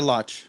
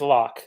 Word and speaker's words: Locke: Is it Locke or Loch? it's Locke.